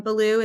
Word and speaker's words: Baloo: Um, Belaloo is like Belaloo the bear from the Jungle Book.